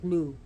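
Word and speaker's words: Lugh: that was slain by the god Lou or pronounced sometimes L from the old Irish lug and when she's pronounced Lou today so brez was became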